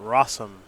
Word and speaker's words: Rosum: that's where it'll start rossum did you know it rhymes with awesome i did know that